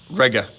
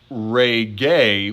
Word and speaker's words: rege: short e technically then the present stem is reg with a short e okay rega not re gay with a long e there is no such